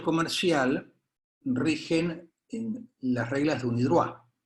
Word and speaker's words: UNIDROIT: Mientras tanto, en derecho comercial rigen las reglas de UNIDROIT. UNIDROIT se escribe UNIDROIT, es una sigla, pero se pronuncia en francés.